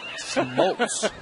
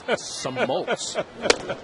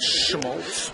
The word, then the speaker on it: Smoltz: Smoltz. It's Smoltz. It's not Schmaltz.